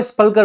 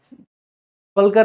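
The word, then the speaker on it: sepulchre: है यहाँ पे CH, तो कब्र को स्पल्कर बोला जाता है, स्पल्कर नहीं सेपल्कर बोला जाता है, सेपल्कर आई गेस, सेपल्कर इसका करेक्ट प्रोनाउंसिएशन होगा, माफ कीजिएगा, सेपल्कर। सो इसको कैसे याद रखेंगे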